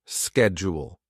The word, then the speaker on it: schedule: British slashshed jewel American slash schedule.